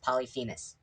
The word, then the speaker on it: Polyphemus: am going to say his name is pronounced polyphemus and if you have a